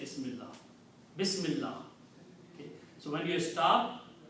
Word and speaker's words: Bismillah: Why are we not pronouncing two lams, two L's there?